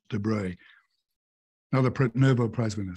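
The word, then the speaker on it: de Broglie: it's spelled the broglier you know but he's pronounced debris another Nobel Prize winner says I regard Consciousness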